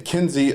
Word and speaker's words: Kinsey: Uh, so that's the right way to say Kenzie uh Kenzie elaborate.